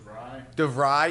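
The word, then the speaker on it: DeVries: Is it Duvray? Stats is helping us. Yes. Stats. DeVry.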